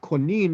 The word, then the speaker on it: Konin: going back to connecting now it's pronounced konin in poland uh the jews were